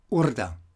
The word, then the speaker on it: Urda: And the U here is abridged and accentuated, Urda.